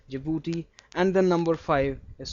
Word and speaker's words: Djibouti: Do remember the spellings here. Be careful. Djibouti. Dj I b u t i jibouti.